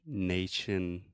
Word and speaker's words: nation: But that is also the schwa, nation. Nation.